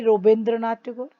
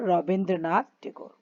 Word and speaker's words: Rabindranath Tagore: Why Rabindranath Tagore? Because he was a Bengali, and Bengali people, they pronounce the name like this only. So Rabindranath Tagore.